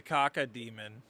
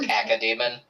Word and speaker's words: cacodemon: Andy's a caca demon. Oh, okay. A cacodemon? Yeah. No, It's pronounced cacodemon.